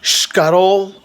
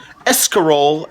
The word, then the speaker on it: escarole: will be how to cook scotle and beans or pronounced in English escarole and beans First Step